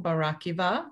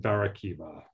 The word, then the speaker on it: Barakiva: Bar hyphen Akiva, which would be Bar Akiva, but then it's sort of been Americanized to Barakiva.